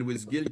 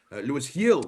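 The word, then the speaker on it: Luis Gil: parce qu'évidemment, pendant longtemps, on avait dit que c'était Louis Gill qui était quasiment. Louis Hill, qu'on dit présentement, parce Gill. qu'on le prononce exactement, merci beaucoup.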